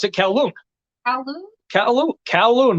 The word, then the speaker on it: Kowloon: I pronounce it Kowloon.